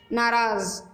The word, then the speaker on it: नाराज़: नाराज़, इसमें Z sound में आ रहा है, नीचे बिंदी लगी है तो ये भी स्पेलिंग ठीक है, आप इसमें टिक लगाएंगे।